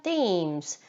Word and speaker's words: themes: 얼음 조각상들은 different themes. 자, 테마 주제라고 나와 있는데 한국말로는 테마라고 하지만 영어로는 요 매직이가 그대로 적용이 돼서 themes라고 발음해 주시면 됩니다.